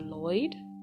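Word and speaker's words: Loid: Is it Lloyd? It's Lloyd. Dumb. A super spy tasked with ensuring conflicts between nations don't evolve into an all-out war. To prevent this cataclysmic event, Lloyd must infiltrate a prestigious school and curry favor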